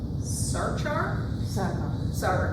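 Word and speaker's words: Sachar: Slightly more lighthearted, we have The Magicians of Tiger Castle by Louis, I've never known how to pronounce his last name, Sarkar, thank you.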